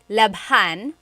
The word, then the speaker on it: labhan: And here it is, labhan. We had to add an H there just for pronunciation. That's kind of how they make the word flow.